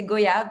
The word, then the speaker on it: Goyave: It's actually Goyave. There's a lot of French people that say Goyave, but the right pronunciation is Goyave, like we say voyage.